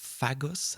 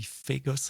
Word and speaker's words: Fagos: And um I pronounce with my French accent fagos at the beginning of at the introduction of the show. It's actually Fagos. It's French startup.